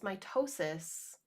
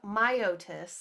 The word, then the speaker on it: Myotis: it is the largest species of the genus mitosis yes my myotis sorry i see this pronunciation it has exceptionally large feet which it